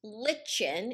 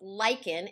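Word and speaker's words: lichen: of how this happens well lyans it's not pronounced Lin it's pronounced Lykan and a Lykan is a combination of a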